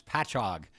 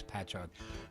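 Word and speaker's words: Patchogue: to pronounce the town it's patch hog and the way to think of it is like catalog you know or epilog ends with ogu but it's patch chog but it's okay you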